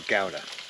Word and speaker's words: Gouda: my cheese some sliced Gouda or gowda however you want to say it correctly I know this is